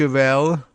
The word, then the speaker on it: Welle: VOA, BBC, and Deutsche Welle are, Welle, perhaps how you pronounce it, W-E-L-L-E. Germans, speak up.